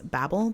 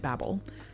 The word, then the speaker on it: Babel: And I felt like that only made sense as a joke if it was pronounced Babel.